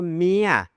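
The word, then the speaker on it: เมีย: And I was like, "Oh, it's your mia. It's your mia." Which rhymes with the word ear? It's one syllable, but he uses two syllable for that word.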